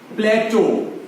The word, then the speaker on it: plateau: प्लेटो, PLATEAU, प्लेटो, प्लेट्यू नहीं होता, प्लेटो, PLATEAU, पठार जिसको